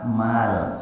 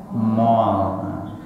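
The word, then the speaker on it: مال: Nah, kita sok-sok barat pula lisannya bacanya mall. Padahal mim ini gak ada O-nya.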